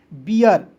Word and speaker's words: bear: BEAR तो देखिए बीर नहीं पढ़ेंगे, इसे बी का ब EAR तो ईयर के रूप में उच्चारण करेंगे, हो जाएगा बियर।